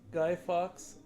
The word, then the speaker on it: Guy Fawkes: I think it's like Fox, Guy Fox. Yeah, I think that's how you say it. I'm not sure. The architecture is amazing. It's always pretty pricey, but it's a dream. You'll probably end up going at some point. Most females love Disneyland. Nice. Oh, thank you, Sarah Gigo, for the emoji. We say it like Guy Forks.